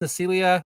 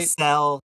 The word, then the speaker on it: Nacelle: Now, if you pull up that, I think is it pronounced Necelia website? Nacelle, yeah, Nacelle, yeah.